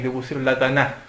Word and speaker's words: Tanaj: Entonces estaba la T, la N y la J, pero la J con la pronunciación que tenían ellos se pronunciaba como una K, Claro.